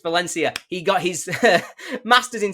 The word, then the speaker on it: Valencia: from the University of Valencia in I don't know why I pronounced it like that either. It's Valencia.